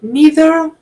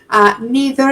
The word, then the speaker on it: neither: Okay, so neither or nor. Okay, you can use either of them. Neither is usually pronounced neither, but can also be pronounced neither.